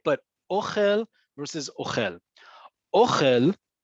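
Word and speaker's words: אוכל: But ochel versus ochel. Ochel, right? This first word here in Hebrew and in the transliteration, ochel, where the emphasis is on the first syllable, on that o. Ochel is food.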